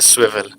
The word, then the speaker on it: Swvl: पहले तो ये है स्विवल, अच्छा, तो स्वेल, उसकी प्रोनाउंसिएशन है स्विवल।